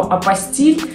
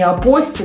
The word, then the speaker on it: апостиль: Прежде всего , хочу сразу сказать, что « апостиль» — французское слово, а во французском языке ударение всегда падает на последний слог. Следовательно, это не « апостол», и уж точно не «апостол», это «апостил».